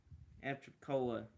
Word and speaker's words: Apalachicola: It's most likely for Apalachicola, Florida, Apalachicola. That's how you pronounce it.